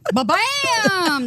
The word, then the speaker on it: Ba-bam: Ba-bam! That's kind of how you say it.